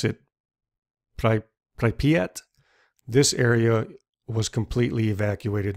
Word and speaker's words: Pripyat: And up here, I believe you pronounce it Pripyat.